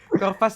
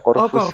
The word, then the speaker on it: Corvus: Corvas itu, bacanya Enggak. Corvus apa Corvas sih? Bacanya? Bacanya tetap pakai EYD Indonesia, Oh Corvus gitu.